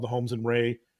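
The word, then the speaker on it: Rahe: It's called the Holmes and Ray. Ray is spelled R-A-H-E.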